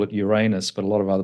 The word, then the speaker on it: Uranus: But I'm going to call it Uranus because that's the way we pronounce it. But if it helps you, Uranus will also work for us.